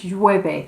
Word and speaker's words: llueve: Okay, literally it rains, and you've got that y sound there at the front, so it's llueve. You've got two sounds there in Spanish that are quite tricky to pronounce. You've got the double L, which is the y, and then the V, which is the sort of VB sound.